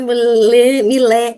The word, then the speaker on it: Milet: Milé, eu falo Milé. Ah, você diz Posso Millet e eu come- pronuncio Millet. eu posso começar daí que você logo perguntou, né? Uhum. Esse Milé vem do meu avô paterno, que veio do Líbano.